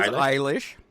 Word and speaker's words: Eilish: How do you pronounce her last name? It is Eilish.